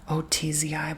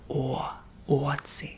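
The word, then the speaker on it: Ötzi: His name is Otzi, but the O has 2 dots above it. From what I recall, at least in Swedish, it's like Otzi.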